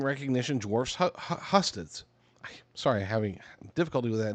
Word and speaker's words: Husted: Brown's appeal to blue-collar Ohio is real, and his name recognition dwarfs Husted's. Sorry, having difficulty with that name. It doesn't look like it should be pronounced like that, but it is.